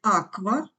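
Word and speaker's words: aqua: оратор буква П популюс ку вживається тільки в сполучення з у вимовляється як кв в слові Аква кво квінкве буква р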